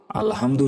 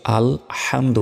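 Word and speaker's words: الحمد: হাম দাল পেশ দু আলহামদু আমরা অনেকে প্রথমেই ভুল করি বলি যে আলহামদু আলহামদু শব্দের অর্থ ধ্বংস হওয়া আর এখানে যেটা আছে এটা হচ্ছে আলহামদু বড় হা রয়েছে তো আলহামদু শব্দের অর্থ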